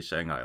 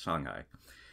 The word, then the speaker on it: Shanghai: these things like, well, you just say it like Shanghai, right? And it's like, yeah, you do, but you don't say Shanghai like that. It's Shanghai.